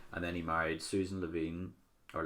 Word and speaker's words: Levin: And then he married Susan Levine, or Levin, I'm not exactly sure how to say it.